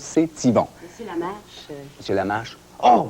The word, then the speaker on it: CTYVON: En fait, dans cette série-là, je suis propriétaire d'une station de télévision qui s'appelle CTYVON, ou CT Yvon, ou C'est Yvon. Vous prononcez comme vous voulez, mais moi, je prononce C'est Yvon.